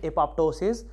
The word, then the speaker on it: apoptosis: the initiation of the apoptosis of platelet we know that apoptosis some people also pronounce it as a apoptosis so apoptosis or apoptosis